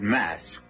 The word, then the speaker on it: Masque: The mask of the red death. The word mask, you should know, is spelled mas qu u e and means masquerade.